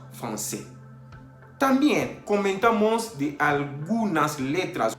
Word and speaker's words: français: Por ejemplo, français, para no decir francais, decimos français.